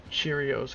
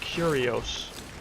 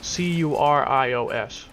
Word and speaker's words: Curios: Cheerios. Common. No. Curios. C U R I O S. Curios like curious or curiosity.